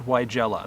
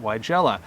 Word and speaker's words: Weigela: up on the screen here, I know as Weigela. That's how I was taught to say it when I went to horticulture school, and my plant ID class, they called it Weigela.